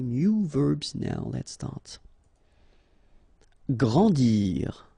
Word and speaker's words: grandir: Grandir. So remember that when you get these G and R together, you get the sound gr, okay? And after that, A, N, en. grandir, grandir.